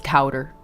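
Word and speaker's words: couter: Couti in English, it's cowder.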